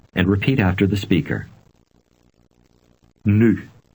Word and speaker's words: nu: Nu. You can pronounce this U. sound by saying a short but with rounded lips. Now read number 1 aloud. Nu.